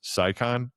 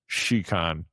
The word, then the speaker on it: Scicon: I did notice that all of us are on, you might think it's pronounced SYON. It's pronounced sheicon.